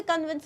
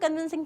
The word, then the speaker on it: convince: कुछ लोगों का कन्विंसिंग पावर बहुत अच्छा होता है, कुछ लोगों का कन्विंसिंग पावर उतना अच्छा नहीं होता है. Coming back to the pronunciation, it's कन्विंस. कन्विंस कन्विंस कॉन्विंस नहीं है, कन्विंस.